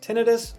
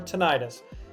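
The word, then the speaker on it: tinnitus: This one has two pronunciations, tinidis or tonitis. They're both right, but your clinic will probably have a preferred way to say it.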